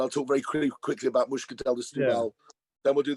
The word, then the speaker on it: Moscatel: So and we would think it was Moscatel, but O's are often pronounced as U's. So it's not Moscatel de Setúbal, it's Muscatel de Setúbal. And that's the right way to pronounce it.